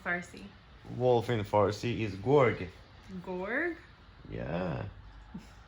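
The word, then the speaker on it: گرگ: Wolf in Farsi is gorg. Gorg? Yeah. Like that? Yes. So I wrote G-O-R-G because in my mind that's how it's pronounced.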